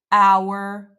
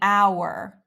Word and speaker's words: hour: example words that start with a silent h honor our herb we would say an on an hour an herb or words that start